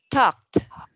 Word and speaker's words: talked: So when you read this word, you will be, this is become talked. Ed here pronounced t. Okay. Talked.